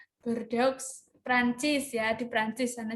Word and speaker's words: Bordeaux: Beliau merupakan kelahiran Bordeaux, apa tuh bacanya? Bordeaux, Prancis ya, di Prancis sana jauh ya.